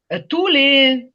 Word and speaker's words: tous: Ту не вимовляємо «с», коли це відноситься до людей, до чого завгодно, але стоїть разом з іменником. Tous les étudiants, par exemple,